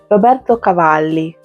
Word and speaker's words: Roberto Cavalli: How do I say it in Italian? Roberto Cavali. That's the proper pronunciation for this perfume.